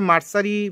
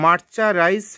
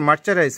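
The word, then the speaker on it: mercerized: এইটাকে বাংলাদেশে বিভিন্ন ব্যবসায়ীরা উচ্চারণ করতে পারে না বলে মার্সারি ফেব্রিক না এরকম কী কী উচ্চারণ করে, যেন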